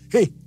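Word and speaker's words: ה: Perhatikan juga cara pelafalan huruf ini. Pun seperti orang yang menghembuskan nafasnya. He.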